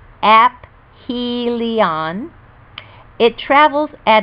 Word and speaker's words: aphelion: distance from the sun called aphelion pronounced apph helion it travels at its